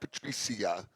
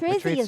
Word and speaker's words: Patrizia: See, I always pronounce this wrong. It's not Patricia. Patrice in Massapequa Park. Patrice Zia. The restaurant. Right, Patrizia's Patrizia.